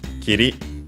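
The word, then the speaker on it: きり: Kiri, luckily accented also on the final syllable as per the rule.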